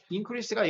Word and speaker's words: increase: increase가 지금 명사잖아요. 명사일 때는 이게 앞에 그 인의 액센트가 있고 이거 발음도 그 응으로 이 응으로 발음을 해야 돼. increase라고 발음해야 돼. increase. 동사일 때는 increase 이렇게 읽고 명사일 때는 increase.